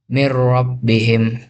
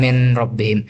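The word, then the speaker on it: مِن رَّبِّهِمْ: Contohnya mir rabbihim, bukan min rabbihim.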